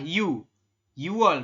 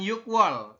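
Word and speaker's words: 유월: Tapi di sini dibilangnya adalah yuwol, bukan yukwol ya, tapi yuwol.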